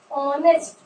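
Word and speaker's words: honest: Like ऑनेस्ट, this is a silent letter.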